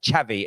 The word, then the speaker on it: Xavi: Xavi as in like ch, ch.